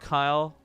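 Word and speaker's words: Cyle: you to royy royy oh I keep want to say Roy cycle royy it's pronounced Kyle man who spells Kyle with a c what's up Roy Kyle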